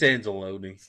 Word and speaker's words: Anzalone: It's Anzalone from Detroit.